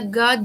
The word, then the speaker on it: God: Some do make a god of pleasure. Okay, so the hard word here is God. God of pleasure. God. It's more AW.